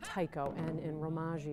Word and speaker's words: taiko: uh teamwork and a sense of community it's pronounced Tao and in ragi it's spelled t a i